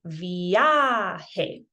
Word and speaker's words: viaje: We haven't spoken yet about what J's do, but if you have any previous knowledge about how J's sound like H's, you would know we say this viaje.